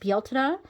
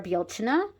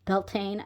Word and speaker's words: Bealtaine: I use the Irish spelling because it is a word and is pronounced Bealtaine or Bealtaine.